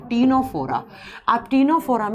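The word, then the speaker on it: Ctenophora: पहले जब हम देखो सी से लिखा जाता है लेकिन इसको प्रोनाउंस करते हैं तो टी से कर जाता है तीनोरा आप तीनों फोरम में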